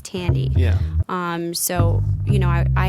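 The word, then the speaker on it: Thandie: podcasts that I've heard many people pronouncing the actress's name as thy Newton and that's why I pronounced it that way but somebody said the other day it's Tandy um so you know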